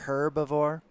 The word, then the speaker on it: herbivore: uh or and because you're not pronouncing the H you're pronouncing it like an e sort of like how